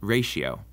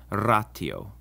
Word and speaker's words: ratio: The T also always sounds like our basic T sound, like in time, and never like a sh or a ch, as sometimes happens in English with ratio.